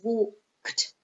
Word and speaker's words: walked: So for example, walk, the infinitive has one syllable, walk. The past simple has one syllable, it's walked. The same with arrive, it's two syllables, arrive, arrive. And the past simple has two syllables. It's not arrived, no, arrived.